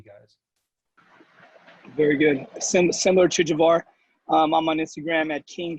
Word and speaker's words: Javar: So, I mean, Instagram, at Javar. Make sure it's not Javier, please. It's spelled Jav as in Victor, without the E at the end.